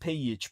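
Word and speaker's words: Pejic: out, but it's pronounced Pich because the J is pronounced as a Y in the Slavic languages.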